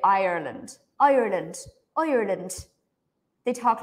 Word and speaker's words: Ireland: this one good so there are actually three syllables in this word iand irand Ireland it's like I land Ireland and in America Ireland Ireland land something like this IR